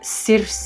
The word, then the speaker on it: Circe: Believe it or not, this is the one and only Circe. You probably pronounce her differently than me. This is how I pronounce it in Spanish.